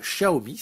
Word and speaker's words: Xiaomi: pour ces oreillettes Bluetooth intra de la marque Xiaomi. Normalement ça se prononce Xiaomi et moi j'ai toujours l'habitude de dire Xiaomi,